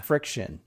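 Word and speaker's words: FriXion: Is this friction? Yeah. Friction. It's Erasable. just spelled stupidly. Yeah. Yeah, it is, with a capital X in the middle.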